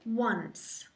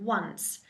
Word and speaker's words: once: Think of once. One number over 10, once. Once.